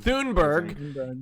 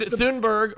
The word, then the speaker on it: Thunberg: How do you pronounce her name? Greta Thunberg. Thunberg is the person of the year.